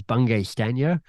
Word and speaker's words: Bungay Stanier: My surname is Bungay Stanier. That's how you say it.